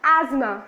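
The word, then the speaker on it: asthma: अस्थमा इसकी spelling है, लेकिन जब इसका प्रोनाउंसिएशन होता है then we will consider as एज्मा, right.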